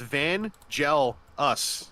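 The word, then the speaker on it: Vangelus: I kept telling them it's literally three words van gel us it's three one syllable words that's all how do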